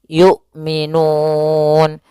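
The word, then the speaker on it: يؤمنون: A I U tidak boleh yu tidak boleh juga y gitu ya tidak boleh dibaca dengan ain tapi dia hamzah yukminun.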